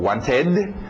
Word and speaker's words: wanted: pronúncia são três pronúncias às vezes é um Ed som de Ed como want ficou Wanted Ok às vezes é